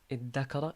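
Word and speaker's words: ادّكر: But because of the pronunciation, difficulty in pronunciation of pronouncing a dhal followed by a dal, the dal will then be changed into a dal. You say iddakara.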